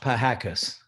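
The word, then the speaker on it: Pihakis: i h a k i s it's actually pronounced pie hakkas easy name okay and your address it's a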